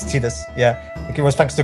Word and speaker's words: Tidus: I always thought it was Tidus, but then it turned out it Tidus. was, yeah, it's Tidus.